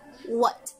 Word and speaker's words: what: But the correct pronunciation of this word is what, what. You see? I mean, you hear that? At the end, there's a letter or a sound.